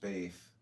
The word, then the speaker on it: Beth: Comment in Beth, B-E-T-H, pronounced Baith, transcribed as B, the number 2, meaning house, the transparent intelligence.